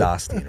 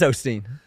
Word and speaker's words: Osteen: It is Austin, right? It's Ostein. Mike, you son, bro, are you kidding me, dog? We had a whole I've never heard it pronounced with the O. I've never heard it pronounced that. Everyone's always said Austin.